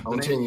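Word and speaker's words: Ontinue: We have had Ontenu. Is that how you pronounce it? Yeah. Ontenu. Yeah.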